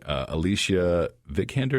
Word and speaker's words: Alicia Vikander: And I got to admit, the lady, Alicia Vikander, is that how you pronounce her name?